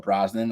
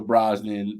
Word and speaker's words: Brosnahan: Rachel Brosnan uh uh I'm gonna call it Brosnan I think that's the way you pronounce it I think it's